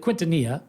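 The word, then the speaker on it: Quintanilla: short stop his name was uh Omar Quinta quintonia that's how you pronounce it played nine Big League seasons and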